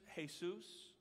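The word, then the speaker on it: Jesús: in many Latino nations spanish-speaking nations hey soos spelled the same way anybody named hey soos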